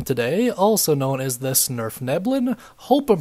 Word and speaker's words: svirfneblin: We're going to be talking about the Deep Gnome today, also known as the svirfneblin. Hope I'm pronouncing that right, pretty dang sure I am.